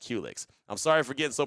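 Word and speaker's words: Qulyx: pause right there uh qlix is spelled q-u-l-y-x uh pronounced Helix I'm sorry for getting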